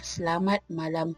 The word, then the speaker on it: Selamat Malam: Pronounce lam like I pronounced it. It is because English words that have lam in it tend to be pronounced differently than our pronunciation of Malay's lam.